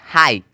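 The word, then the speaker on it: high: एच आई जी एच हाई एच आई जी एच हाई हाई हाई मतलब होता है ऊंचा अब देखो जी एच का ना यहां पे कोई भी साउंड जो है उच्चारण नहीं निकला है एस आई जी एच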